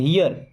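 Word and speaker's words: here: क्या होता है यहां इसको हेर नहीं पढ़ते हैं हियर क्या पढ़ेंगे हियर लुक हियर देखो यहां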